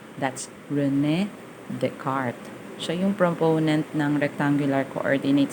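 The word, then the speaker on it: René Descartes: coordinate system it is proposed by rene descartes pronunciation that's rene descartes so young proponent rectangular coordinate system orientating cartesian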